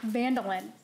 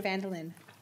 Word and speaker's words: Van Dillen: It's pronounced like mandolin, but with a V handle it the actual Dutch pronunciation is. Okay.